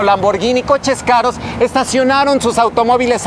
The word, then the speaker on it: Lamborghini: No se dice Lamborghini, se dice Lamborghini.